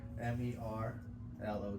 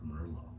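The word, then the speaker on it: Merlot: owners they go like how do you pronounce it Merlo it's Mero Merlo Mero you you say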